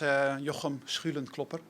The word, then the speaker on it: Jochem Schulenklopper: The good part about pronouncing my name is that you get to clear your throat twice. Correct pronunciation is Jochem Schulenklopper.